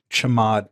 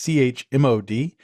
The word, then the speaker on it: chmod: permissions is using the chmod command. That's CHMOD, and it's short for change mode. So I guess you could also pronounce it as chmod if you prefer, but I call it chmod.